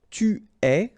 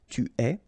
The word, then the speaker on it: tu es: Okay, so je suis, final S not pronounced, tu es, okay, so it's quite strange because you get this ES, but then phonetically it's est, alright, quite open, tu es.